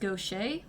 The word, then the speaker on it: Gautier: favorite characters darian gottier gautier gautier however you say it i'm not entirely sure because i'm fairly certain they say it two different ways in the game and in real life it's pronounced gaucher my friends and i